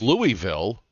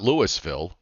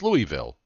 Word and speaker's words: Louisville: state we're talking about well it's Louisville it's not Lewisville it's Louisville no it's Frankfurt it's